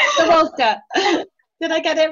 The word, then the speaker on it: Kozlowska: Kozlowska. Did I get it right? Yes. Yeah. Good job. Yes, it was the perfect pronunciation.